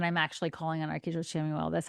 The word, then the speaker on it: Chamuel: I say Shamuel. Okay. That's how I say it. There might be other versions like Chamuel or Chamuel. But I've always said Shamuel.